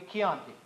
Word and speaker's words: Chianti: moved it will be marsala or it'll be kyonki you pronounce the CH at the beginning of a